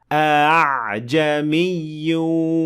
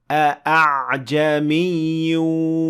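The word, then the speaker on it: أَعْجَمِيٌّ: Hamza to signify that this Hamza should be pronounced a bit lightly, like so. أعجمي وعربي, rather than أعجمي وعربي, which is quite heavy to pronounce.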